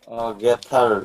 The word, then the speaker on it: gathered: এটা বলে দিয়েছিলাম যে টিএইচ এর পরে ই থাকলেও বা ই আর থাকলে টিএইচ এর উচ্চারণটা দয়ের মতো হয় সাধারণত। gathered গ্যাদর্ড, দ, gathered হ্যাঁ।